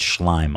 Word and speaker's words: Schlime: It's Schlime. Avi Schlime. He was calling him Schlime or something.